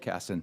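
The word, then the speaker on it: Casten: you I now recognize Mr Karsten of Illinois for five minutes sorry oh Mr Kasson I'm sorry I just no I just threw in a couple extra syllables uh someone from Illinois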